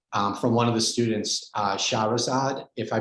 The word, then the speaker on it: Shahrazad: have a question from one of the students, Shahrazad, if I pronounced your name right. Maybe you could come off mute and you could ask your question to Ron. Hi, Ron. I'm Shahrazad.